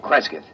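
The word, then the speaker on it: Kresgyth: instead as um well, I'll I'll spell it. C R E S G Y T H Kresith.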